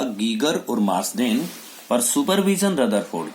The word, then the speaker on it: Geiger: गीगर भी इसको पढ़ते हैं और कभी कभी हम इसको गाइगर भी पढ़ते हैं, तो वो तो डिपेंड करता है कि कौन अपना प्रोनाउंसिएशन या इंडिया में कैसा है।